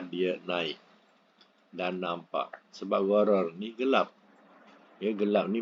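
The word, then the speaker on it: غرر: Ejaan gharar boleh ghain ra alif ra atau ghain ra ra, ya. Bunyinya gharar dalam braket gelap, ya.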